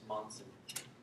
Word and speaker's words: Monson: Which is Monson. Monson. Yeah. Can you spell that for me?